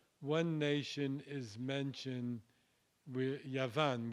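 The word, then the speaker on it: יָוָן: nation is mentioned with Yavan, which would have been pronounced Yawan in biblical Hebrew, which is iron in Greece.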